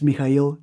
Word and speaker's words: Mikail: Um my name is Mikail. It's uh it's a Bulgarian name as you guys know. It's pronounced.